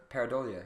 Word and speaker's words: pareidolia: I don't know how it's pronounced, but it's like Pareidolia. Pareidolia.